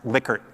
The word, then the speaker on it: Likert: measuring sentiment or proclivities Likert scale data and it really is pronounced liquor not licker even though it's Li